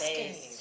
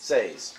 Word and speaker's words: seis: That's Seis. good. Ah, see? Seis. 6. 6. Say a Z sound on the end. No? Yes. Yes, Seis. that is S. Says.